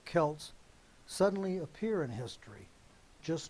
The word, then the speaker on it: Celts: Exactly where and exactly when the ancient Celts, or I'll pronounce it properly, Celts, suddenly appear in history just north of the Caucasus Mountains.